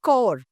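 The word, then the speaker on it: corps: Looks totally different but sounds different this is कोर this is sound S कोर कोर यू कैन से कोर। सो I have told you earlier also when we talk about the word NCC इट is national cadet कोर।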